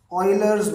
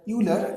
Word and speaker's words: Euler: is known as the Euler's method. This is never pronounced as Euler, it is always pronounced Euler.